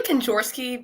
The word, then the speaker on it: Kenzorski: It's actually Kenzorski, but honestly, it's close enough.